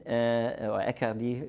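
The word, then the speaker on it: Aicardi: and I can't even Accardi is right pronunciation and these excellent pre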